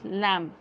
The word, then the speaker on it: lamb: So for example is lamb. So B will not be, you will not hear the sound of B while you are pronouncing.